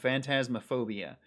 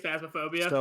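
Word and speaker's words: Phasmophobia: carrion mortal shell rajyan ancient epic roki and fantasma phobia phasmaphobia yeah i think it's phasmaphobia i definitely said it wrong yes i have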